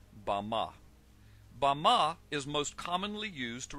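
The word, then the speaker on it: במה: in the Strong's Hebrew dictionary and it is pronounced bah Bama is most commonly used to refer to a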